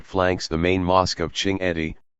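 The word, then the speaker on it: Chinguetti: A striking minret flanks the main mosque of Ching Edi, pronounced Chinjit, an oasis over 2,000 mi to the southwest in what is now central Moritania.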